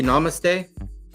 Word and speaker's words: Namaste: Namaste good now am I saying it correctly Namaste Namaste perfect it annoys Mandy when I purposely